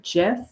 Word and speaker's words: GIF: I do pronounce it gif uh because Stephen willhite the GIF inventor in the 1980s he pronounced it gif with a soft J so out of respect